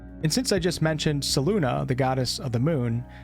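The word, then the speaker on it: Selûne: me on my pronunciation the pronunciation that I use for these videos is from the game itself I never knew Saloon as followers were quite so wretched I think it's best to use the pronunciation used in the game so people can put the two and two together there's also a known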